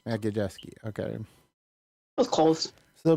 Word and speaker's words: Majewski: How do you pronounce it again? Majewski. Majewski.